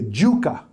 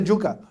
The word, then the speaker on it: yuca: you know that really in Taíno we say a juca, Jew, like Jew, right? Juca. And I said, no, I don't think so. And really, but people do say it like that. If you go to certain parts of Puerto Rico, people will say, "Dame ese yuca," you know, like they'll say with that J.